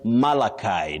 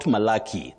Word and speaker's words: Malachi: Then Malachi, not Malaki.